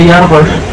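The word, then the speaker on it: Jaarbeurs: Nah, di sana ada tulisan Jarbers, dibacanya Jarbers. Yar artinya tahun dan Bers itu pasar.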